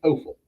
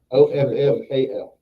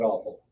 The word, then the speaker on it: offal: which is offal. OFFAL. Okay, not awful. Right. A lot of people pronounce it as awful, but it's offal.